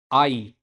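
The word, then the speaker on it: hay: तो आई, आई इसको आई प्रोनाउंस करेंगे क्योंकि एच तो साइलेंट रहता है और वाई लास्ट में आ रखे, तो आई, आई इसका मतलब होता है देयर इज।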